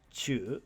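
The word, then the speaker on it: 忠: number seven is chujitsu Chu on the left side is our new kanji for loyal Fidelity or faithfulness pronounced Chu with our kanji for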